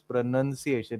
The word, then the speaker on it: pronunciation: people say pronunciation wherein the word pronunciation does not have that extra o there. It is just n u n. So it is pronunciation.